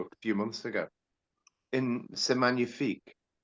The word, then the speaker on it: C'est magnifique: He pronounces it C'est Magnifique, not C'est Magnifique. Yeah. It misses the G out, and then I did a little, comparison of other people singing it, and some other people sing it without the C'est Magnifique, and other people sing it C'est Magnifique, pronouncing the G as hard, and he drops it.